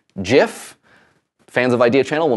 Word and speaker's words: GIF: The creator of this has claimed that the proper way to pronounce it is GIF.